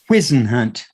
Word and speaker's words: Whisenhunt: Whisenhunt.